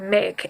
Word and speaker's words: make: words that are CVCE, so words like make, M-A-K-E, where the silent E makes the vowel say its name.